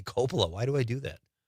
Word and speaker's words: Coppola: Thank you, Catherine, for I'm going to say Coppola from now on. I know that's the correct pronunciation, but for some reason I say Coppola.